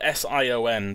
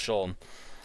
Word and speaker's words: Sion: I guessing what the ever see a spell si o n but it's pronounced Shawn I got recommend it round I got recommended